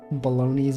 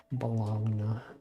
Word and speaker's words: Bologna: Bologna. Cologna. I guess there are a lot of words that end with G and E, but then it's just like N. The G is silent. Bologna.